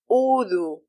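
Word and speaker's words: وضوء: Another example: udu. Udu. It is originally u'du, but the second hamza is changed to a waw, which is suitable for the dhamma diacritic of the first hamza.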